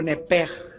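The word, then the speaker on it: נפש: Por favor, escríbanla en el hebreo, es nepesh, o nepej, como se pronuncia. Se escribe nepesh.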